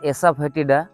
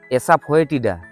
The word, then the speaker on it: Asafoetida: এই যে গাছটা দেখছেন, এটা হচ্ছে ফেরুলা এসাফেটিডা বা এসাফোয়েটিডা, যেভাবেই উচ্চারণ করুন না কেন।